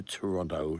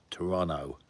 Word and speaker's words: Toronto: yesterday's off to Toronto soon. I told him to pronounce it properly. I said Toronto. See, he was saying Toronto.